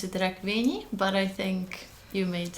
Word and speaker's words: Rekvényi: I pronounce it Rekvényi, but I think you made a great effort.